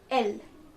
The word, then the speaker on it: elle: Okay, and she is called elle. Elle. It sounds like the letter L, but the spelling is E-double-L-E. Okay, you can see it here again.